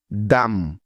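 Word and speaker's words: dumb: না প্রথম কারণটা হলো এম এর পরে যদি বি বর্ণটা থাকে তাহলে ওই বি এর কোন উচ্চারণ হয় না তবে এসব শব্দ লেখার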